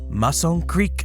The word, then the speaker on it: Mazon Creek: The world famous Mason Creek fossil beds. Yes, that is how you pronounce it.